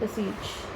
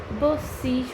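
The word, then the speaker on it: beseech: यूज़ कर सकते हैं बसीच। इसकी प्रोनाउंसिएशन बसीच होती है, लोग इसको बीसीच भी पढ़ सकते हैं, बट the correct pronunciation is बसीच।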